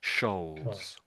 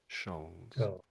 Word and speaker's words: shoals: So if that was a C, it would be coals like in you get coal out of the ground, but it isn't C. So it's it just make a sh sound at the beginning.